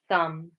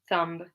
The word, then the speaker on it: thumb: We've got climb, numb, thumb. So we don't say climb, numb, thumb. Okay, we just pronounce it like an M at the end. B is silent.